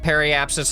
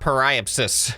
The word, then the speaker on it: periapsis: The comments also told me that this is pronounced periapsis and not periapsis.